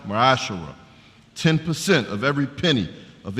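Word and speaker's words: מעשר: It means a tenth in Hebrew, and it's pronounced Ma'ashara.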